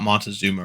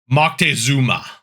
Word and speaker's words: Moctezuma: This is not Montezuma, right? This has a weird pronunciation because Montezuma is the localization, right? It's like Moctezuma.